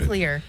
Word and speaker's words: nuclear: years nuclear nuclear nuclear there's not a u nuclear no listen to MEC there's a u but it's not where where George W bush used to put it nuclear he would say nuclear